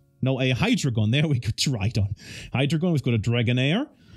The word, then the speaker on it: Hydreigon: We've got a Tridon? No, a Hydreigon.